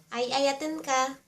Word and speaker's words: Ayayaten ka: Ay a ya ten ten ka Ayayaten ka And if you wanna